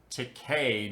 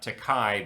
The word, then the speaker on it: Takei: oh my and yes I know it is probably supposed to be pronounced Takei not takai but that doesn't rhyme